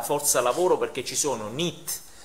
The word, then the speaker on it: NEET: In effetti la pronuncia è abbastanza giusta, è NEET. È una sigla che è NEET, una sigla inglese, e sta per Not in Employment, Education and Training.